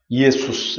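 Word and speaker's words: Ἰησοῦς: 이에수스 이렇게 발음이 되죠. 이걸 영어에서는 지저스라고 하는데 한글 발음이 굉장히 원래 발음과 굉장히 흡사한 거죠.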